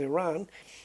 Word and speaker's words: Iran: But a lot of it is like take the countries of Iran and Iraq, okay? there it's Iraq and Iran, but the I is pronounced like I, you know, like I, but it's not.